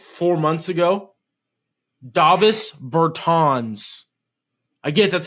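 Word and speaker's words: Dāvis Bertāns: yeah yeah also guy like four months ago Davos Burtons again that's how you say his name I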